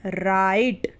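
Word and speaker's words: write: आर आई टी ई इसे पढ़ते हैं राइट क्या पढ़ते हैं राइट पढ़ते हैं ठीक है इसमें जो डब्लू है ना वो साइलेंट रहता है यानी कि उसका इस्तेमाल नहीं होता है लिखा तो डब्लू आर आई टी ही है लेकिन पढ़ेंगे क्या राइट पढ़ेंगे तो डब्लू इसमें साइलेंट रहेगा फिर है एल ए यू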